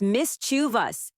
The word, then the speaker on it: mischievous: It's mischievous, not a tongue twister. My pronunciation is getting better, right?